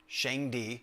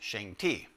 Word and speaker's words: Shangdi: The name that they had for God was Shangdi, sometimes pronounced Shangti.